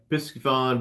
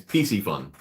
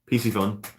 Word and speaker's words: Piscifun: Got my Piscifun backpack today. That's very cool. That's an awesome bag. Here, I said it wrong. It's PC Fun. PC Fun.